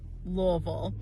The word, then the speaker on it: Louisville: the Kentucky pronunciation is louville Lille oh you have to draw it out Lille I tried to